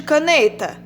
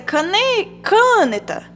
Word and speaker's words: caneta: Qual a sílaba tônica de caneta? O né. Então, se fosse o K, ia ser caneta. Ou então, canetar. Mas não, é caneta. Então, a sílaba tônica é o né.